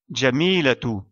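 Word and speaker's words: جميلة: Donc, on doit prononcer son Ta marbuta comme la lettre Ta, ainsi que la voyelle qui lui est associée. Jamilatu.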